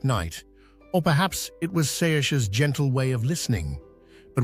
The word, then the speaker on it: Saoirse: "Saoirse," she replied, pronouncing it Saoirse.